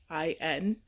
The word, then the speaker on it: Nsikok: It's Nsikok. Easiest way to pronounce it is Inseekok, because that's how you pronounce it.